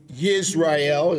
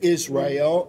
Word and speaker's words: Yisrael: which is an orphanage in Yisrael, as it's pronounced properly, or we would say Israel in America.